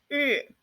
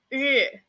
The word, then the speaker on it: 日: It is 日. 日. You need to curl up your tongue a little bit, like the pronunciation of r in English.